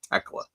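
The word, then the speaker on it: Thekla: I don't know why I keep, because the H is silent. It's Tekla.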